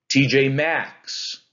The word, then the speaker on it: TJ Maxx: TJ Maxx. Do you hear how that's an anapest? It's two unstressed syllables. TJ, and then the stressed syllable. Max. TJ Maxx. TJ Maxx. Anapest.